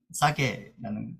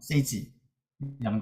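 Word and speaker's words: SAGE: 그래서 얘를 또 클릭해서 좀 들어가 보면 얘는 아까 봤던 APA는 아니고 얘는 싸게라는 거고요. 세이지라는 거고 읽는 방식도 이렇게 학자마다 다르더라고요. 누구는 싸게라고 누구는 세이지라고 읽고 뭐 그건 그렇고 자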